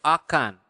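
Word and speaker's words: akan: in Bahasa it is very simple it is aan okay repeat after me a aan okay so aan so will is aan okay so that's remember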